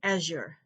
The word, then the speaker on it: azure: it may be silent the z occasionally stands for the sound represented by the key symbol s as in quartz and by the diagram z-h as in azure we have noted that